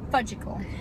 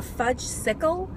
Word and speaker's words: Fudgsicle: And I said, "You mean a fudge sickle?" What part? She said, "No, mom." You're saying it wrong. Saying mom like mom. No, mom. Mom means you're an idiot. And I said, Jess, fudgle is not a word.